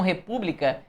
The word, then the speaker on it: república: É só você fazer a separação silábica que você vai ver que repúbica é uma palavra cuja sílaba tônica é a antepenúltima ou a terceira de trás paraa frente. Isso faz com que a palavra seja classificada como uma palavra que é proparoxitona.